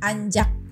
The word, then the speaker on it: ancak: terakhir yang beda itu cuman ancak gitu bacanya jadi anjak Oke kemudian e selanjutnya di